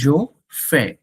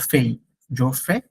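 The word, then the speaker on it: je fais: টু to make কোন কিছু করা প্রথম আসে জো ফে এটা উচ্চারণটা কিন্তু জোফে জোফে জোফে নট ফেফে টু ইল এলস নজটা একটু হবে নাফেল এটাকে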